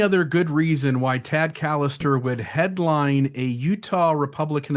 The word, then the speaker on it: Callister: Does that mean that and it's Callister, by the way, you habitually mispronounce his last name.